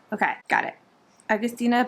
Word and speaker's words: Agustina: Agustina. Okay, that one I was pretty sure I knew. This one is the one I'm not so sure about. Basterica. Okay, Agustina Basterica. Okay, got it. Agustina Basterica.